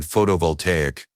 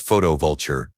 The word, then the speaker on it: photovoltaic: body's natural aura, and mispronouncing photovoltaic as photovulture.